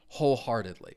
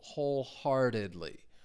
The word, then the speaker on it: wholeheartedly: it, you can agree wholeheartedly. Stress is on that first syllable. Wholeheartedly. Wholeheartedly.